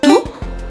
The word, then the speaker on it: tout: Para você dominar essa pronúncia, não esqueça que você tem que falar tu, como se fosse tu em português.